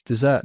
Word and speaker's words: dessert: It's dessert, not desert.